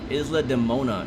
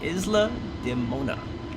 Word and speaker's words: Isla de Mona: yeah i think that's what it is i'm pronouncing all those really wrong isla de mona is the name thank you uh see the unknown appreciate that thank you isla de mona it's the name of that island right there